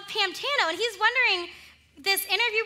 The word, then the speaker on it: Pantano: talk about it much because you can't really hear the difference so no one really brings up the weird spelling of pam even though we spell it p-a-n and frank is buying it he's buying this that that it's called pamtano and he's wondering this